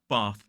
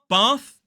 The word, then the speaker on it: bath: would say path path few examples bath in a modern British RP accent bath in the north grass r that long